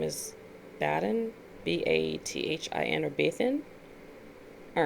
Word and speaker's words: Bathin: demonic energy is named bathin b-a-t-h-i-n bathing bathing i did go to baths a bath because it's spelled like a bath it's there's no g there but it's number 18.